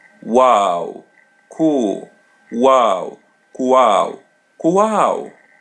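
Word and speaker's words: qual: Wow. Wow. As you see her L in the end is pronounced as W.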